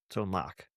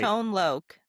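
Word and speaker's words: Tone Lōc: Tone Lok. Yeah. Yeah. Pronounced with an H. I've been saying tone lock for a long time. Uh short for locator.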